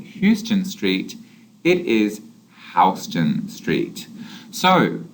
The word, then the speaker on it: Houston Street: this street in New York is not called houston street it is houston street so it's important to